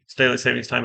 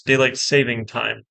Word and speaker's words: daylight saving time: time is the worst apparently I've been pronouncing it wrong my wife pointed it out to me it's daylight saving time not daylight saving time there's no s there sure but we did